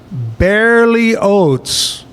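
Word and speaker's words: Berlioz: And it's pronounced barely Oats. The last name is almost like Oats.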